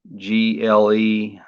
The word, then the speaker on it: Gleipnir: But Glee Ip Near, I guess that's how it's pronounced. Gleipnir.